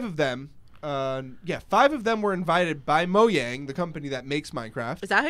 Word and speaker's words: Mojang: It's Mojang. There's no j sound, I believe, in Swedish, so it's a ja.